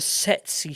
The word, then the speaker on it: Tsetse: And he has the social maturity of a Tsetse fly. The A classic. sexy fly. The sexiest Fucking fly. flies, man. Buzz. Sexy. Is it like a daddy long legs? Silent T at the start.